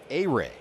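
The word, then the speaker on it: Ehire: First name spelled E-H-I-R-E, pronounced A-Ray.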